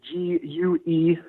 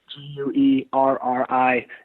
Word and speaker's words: Guerrieri: And because you have one of those good Cleveland ethnic names in Guerrieri, we better spell that for our listeners. Yeah, so my last name is Guerrieri. So, M-A-T-T, Guerrieri.